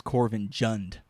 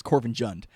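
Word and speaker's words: Korvanjund: Corvinjund, but she says Corvinjund, and it's just kind of like, are you a real Nord if you pronounce it Jund and not Yund like everyone else in the game?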